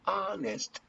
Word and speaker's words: honest: honest man honest okay when you say the honest man you gotta say here an h but this age is mispronounced you don't pronounce the age so you say the honest honest and the the sound here is the